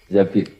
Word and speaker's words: Zabir: Zabir di hadis ini bukan bacanya bukan Zubair tapi Zabir Abdurrahman bin Zabir tapi